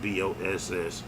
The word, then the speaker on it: BossMoo: But Chief Keef has an artist named BossMoo, I believe is how you pronounce it, BossMoo, who has reportedly lost